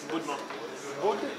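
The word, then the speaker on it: Будьмо: Budmo.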